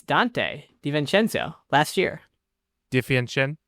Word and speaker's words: DiVincenzo: DiVincenzo? How do you say the last name? DiVincenzo. DiVincenzo.